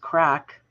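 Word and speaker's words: craic: a few there's Croc it's pronounced crack as in what's the crack or good crack good fun yeah uh Grand is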